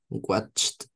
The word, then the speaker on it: watched: So as you could hear in David's pronunciation, it sounds like a T. We don't say help it. We don't say look it, wash it, watch it, or kiss it, right?